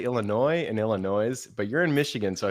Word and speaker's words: Illinois: That's not how you say it. It's Illinois.